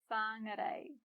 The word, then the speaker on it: Whāngarei: When we put them together, we get a, Whāngarei.